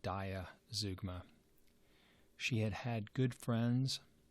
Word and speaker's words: zeugma: in just the next 15 pages it's called Zeugma it's spelled ze UGMA and so Zeugma is generally